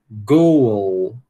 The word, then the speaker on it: goal: Então, ó, goal, goal, goal. Está conseguindo escutar um chuazinho aqui entre esse U e esse L?